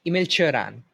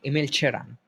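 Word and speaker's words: Emil Cioran: So it's Emil Chiron in a Romanian accent. Emil Chiron.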